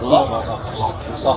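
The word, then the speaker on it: Lough: Loch. Scottish is loch, but it's spelled different in Ireland. Loch. In Scotland, but Ireland it's L-O-U-G-H. Same pronunciation. Same thing, loch.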